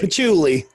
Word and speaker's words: patchouli: long yeah like me said uh but put pat choli and musk are in the air am i pronouncing that right patchouli patchouli okay i was like that it's that